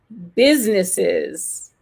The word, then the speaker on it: businesses: Il existe à l'écrit, mais il ne se prononce pas. Vous voyez? Et si vous ne faites pas cet accent tonique correctement, vous avez tendance à le rajouter. Mais quand vous faites l'accent tonique, vous apercevez que ça serait dur de faire « business », de tout prononcer.